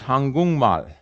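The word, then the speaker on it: 한국말: we're messing with also says that if a one of these stops follows is followed by a nasal the stop turns into a nasal so korean becomes hangung mal so if you're telling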